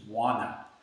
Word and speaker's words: wanna: So we don't really pronounce the T, it's just wanna.